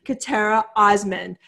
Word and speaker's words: Khatera Osman: Welcome to the show, Khatera Osman. And please, please let me know if I said your name wrong.